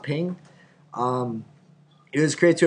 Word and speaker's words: PNG: me show you why first of all it's pronounced ping um it was great